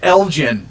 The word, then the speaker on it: Elgin: tassel uh the 8th through the 11th in elgin illinois captain ambivalent on the 10th online because it's been weeks now i don't mean to pick on you but it's pronounced elgin oh okay every time you're like in elgin